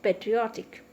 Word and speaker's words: patriotic: Okay, now look at the word patriotic. Patriotic. So here patriotic, O itself is one syllable. Tick is one syllable, O is one syllable. So we are marking stress on O.